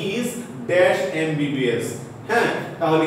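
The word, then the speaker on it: MBBS: এমটা হচ্ছে কি কনসোনেন্ট, কিন্তু এম উচ্চারণ করতে গেলে এ আসলো, আমার কি ভাওয়েল সাউন্ড এ এসেছে।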